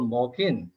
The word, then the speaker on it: Moken: Actually, in Myanmar, do you know that Moken we call Moken and also Salo? So I'm going to use Moken, Salo people, Moken people. They prefer to pronounce as Moken, so I'll use Moken in my presentation.